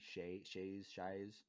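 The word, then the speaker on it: Mok Shaiz: the mayor's name is Mock Shies, I think it's pronounced. Bless you. Thank you. Does that name mean anything in the EU? Not that I Mock. know of. MOK and then SHAIZ, Shies.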